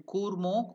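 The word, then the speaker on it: कूर्मो: Then Sutalam Chandaha, then Kurmo, U it is elongated.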